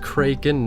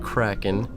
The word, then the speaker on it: Kraken: And yes, it is pronounced Kraken, not Kraken.